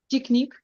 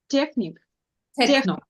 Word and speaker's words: techno: Technique. Techno. Techno. Yeah, and CH here will pronounce as K, yeah?